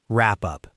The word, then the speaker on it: wrap up: Wrap up. Wrap up. Connect the final sound in wrap smoothly to up wrap up.